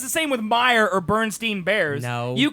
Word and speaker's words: Mayer: like Mayer is how it looks, but it's actually Meyer.